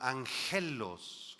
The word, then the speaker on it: angelos: Ángel en el griego esa palabra angelos angelos con acento en la e significa mensajero debido a